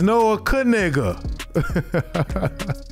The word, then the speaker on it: Noah Knigga: It's Noah Knigga. And they're like, I know how to pronounce my last name, so I didn't think anything of that.